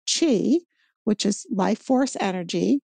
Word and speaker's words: Qi: they call this energy Chi it's pronounced Chi but it's spelled Qi this is our life